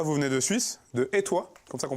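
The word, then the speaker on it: Etoy: Alors Dorian Rappa, vous venez de Suisse, de Étoile, comme ça qu'on prononce, Tout à fait.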